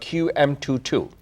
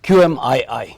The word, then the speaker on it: QMII: And that's the name of the company, called QM22. QMII. Oh, excuse me. Thank you for pronouncing it correctly.